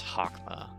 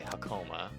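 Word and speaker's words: Hokma: reason I pronounce um it's gaburra and then it's hakma but I say I say gerbera and I say hakoma I don't know why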